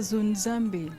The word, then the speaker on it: Zonzambe: Est-ce que je prononce votre nom correctement, madame? Oui, c'est correct. C'est Zonzambe.